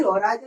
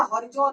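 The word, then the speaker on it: horizon: देखिए, soil profile में अब बात आई होराइजन की, तो हम बात कर लें कि होराइजन या हॉरिजॉन, आप इसे कुछ भी प्रोनाउंसिएशन जैसा आपको अच्छा लगे वो कर सकते हैं। हॉरिजॉन कह सकते हैं या होराइजन कह सकते हैं।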